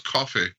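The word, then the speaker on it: Coffey: No, you said it was Coffee. Coffee, that's right. That's right. He had that weird pronouncing or weird spelling, but it's like coffee.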